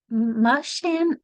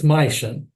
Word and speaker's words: Maischen: Mushan, excuse my pronunciation of your name. That's okay. It's Maischen.